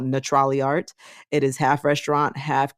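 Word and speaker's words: Natrali Art: So the place is called Neutrali Art. It is spelled NATRALIART.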